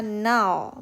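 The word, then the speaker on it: 날: itu air contoh lain kita menyebutnya Nal Bukan Nar ya teman-teman Nah kalau di akhir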